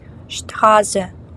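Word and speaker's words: Straße: спорт не спорт а шшпрехн говорити далі ST читається як шт штхазе вулиця штхаус це може бути букет або страус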